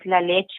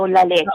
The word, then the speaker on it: La Leche: of the foundation is La Leche League. So La Leche. Okay. Okay. It is a Spanish name and means the milk. Okay, gotcha. So it's Okay. La Leche League.